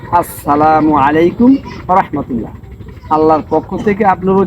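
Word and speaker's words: ورحمة الله: আসসালামু আসসালামু আলাইকুম আলাইকুম ওয়াহমাতুল্লাহ ওয়া রাহমাতুল্লাহ এটা মনে রাখতে হবে তাহলে আমি আবার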